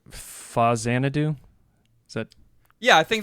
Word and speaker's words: Faxanadu: How to pronounce. It's easy. Faxanadu.